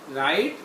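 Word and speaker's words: write: कोई रूल नहीं है राइट रोट रिटन अब इसमें डब् जो है वो साइलेंट आ रहा है इसकी आवाज नहीं आ रही राइट रोट रिटन बोलना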